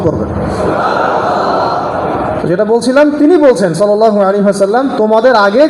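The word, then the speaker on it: صلى الله عليه وسلم: এবং শুদ্ধ উচ্চারণে পড়বেন। অনেকে সালাম এরকম করে পড়ে, হতভাগা, একটা দরুদও পড়তে পারে না। সুন্দর করে বলবেন সাল্লাল্লাহু আলাইহি ওয়াসাল্লাম। একবার বললে 10 নেকি, 10টা গুনাহ মাফ, 10 বার আল্লাহ পাক রহম করবেন।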